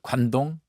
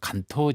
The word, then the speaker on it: 간토: 못했던 커다란 지진으로 인해서 일본의 그 관동 일본 본토 발음으로 하면 간토 지역에 네